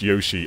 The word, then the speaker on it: Yoshi: So, when I first started, I pronounced Yoshi as Yoshi, and commenters didn't like that, so I had to change my whole mannerism of Yoshi. But yeah, Yoshi is how I say it now.